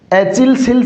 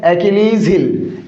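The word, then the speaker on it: Achilles heel: क्या है, एचिल्स हिल से क्या, नहीं साथियों, इसका करेक्ट प्रोनाउंसिएशन क्या है साथियों, इसका करेक्ट प्रोनाउंसिएशन है एकिलीज हिल, एकिलीज हिल, एकिलीज हिल, इसका करेक्ट प्रोनाउंसिएशन है।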